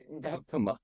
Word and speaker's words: Gautama: don't know, the Buddha's actual name was Siddhartha Gautama. Did I pronounce that correctly? Gautama.